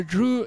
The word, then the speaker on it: Dreux: am I pronouncing it we don't pronounce the last bit of the words that's like oh yeah so Drew you're in France um